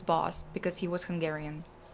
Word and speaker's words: Bosch: It's not Bosch, it's Boss because he was Hungarian. It's pronounced Boss.